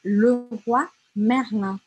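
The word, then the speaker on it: Leroy Merlin: Ah, me disseram que Le Roi Merlin se pronuncia Le Roi Merlin. Na verdade, se fala assim, ó, stop a lab. É Le Roi Merlin, Le Roi Merlin.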